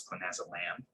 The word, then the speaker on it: clonazolam: a drug called chloe clonazolam uh as opposed to pronounced pam it's clone as a lamb and it's a high